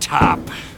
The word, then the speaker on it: Topp: what are your names my name's top the last p is silent all righty then what